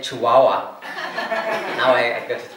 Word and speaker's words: Chihuahua: before I came here, actually, I used to pronounce it completely, wrong. Chihuahua. So people say to me, "Where are you going?" I say, "Chihuahua." Is that China? No, it's Mexico. And then I have to say Chihuahua.